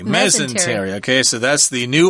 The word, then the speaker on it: mesentery: actual organ organ let me see what the pronunciation guy who says mesentery mesentery ok so that's the new organ in the